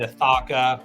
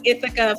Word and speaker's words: Ithaca: Kirby's tagline itha humus I was pronouncing it ithaka for a year before I realized it's itha not aaka itha that that's that's a giveaway I'm not from the East Coast Right started at the